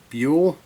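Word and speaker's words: Beale: Summa Helvetica by actually Vox Day, but it's Theodore Buell, I guess is his real name. Is how he pronounces it.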